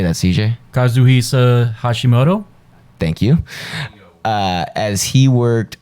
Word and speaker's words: Kazuhisa Hashimoto: Kazuhisa Hashimoto.